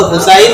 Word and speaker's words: হুসাইন: রসূলের কোন সাহাবী নাই হোসেন নামে রসূলের কোন নাতি নাই নাম হলো হোসাইন রাদিয়াল্লাহু তা'আলা আনহু দেখেন যে কেমন আশেক রসূলের নাতির নাম হুসাইন কিন্তু নামটাও ঠিক করে উচ্চারণ করতে পারে না হায় হোসেন হাই হোসেন